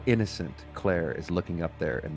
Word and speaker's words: Clare: calling me Claire, that's just unfair language semantics. I'm sorry. I'm sorry my name rhymes with where.